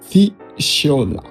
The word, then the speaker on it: FUSIAOLA: It is an analysis framework developed by Dipankar Jyoti, pronounced FUSIAOLA, and it stands for 8 things you analyze on every project.